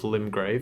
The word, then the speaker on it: Limgrave: The domain of Limgrave is how you pronounce that apparently.